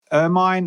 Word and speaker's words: ermine: On the subject of your own tools, and you're going to have to clarify how I pronounce this. So ermine or ermine buttercream?